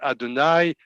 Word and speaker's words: Adonai: This is the word Adonai, which is a bit different because Adonai is written in a certain way and pronounced in another way, which is one of the few words that are like this.